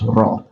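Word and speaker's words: ر: ra so this is raw so you can pronounce a ra just like or you pronounce it as ra just like very okay so that is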